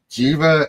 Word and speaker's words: Jeeva: for this, but it's Jeeva and. Yeah, close enough. All right. I was going in my head like, I know how to say it. Try. You're supposed to say the J.